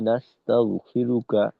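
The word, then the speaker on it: نستغفرك: এখানে অনেক সময় দেখা যায় অনেকেই বলে ওয়া নাস্তাগফিরুকা, তার মানে ওয়াকফর নিয়মে না পড়ে স্বাভাবিক হরকত উচ্চারণ করে। তো এটা আগেই বললাম, এটা সমস্যা নেই, এটা করা যেতে পারে।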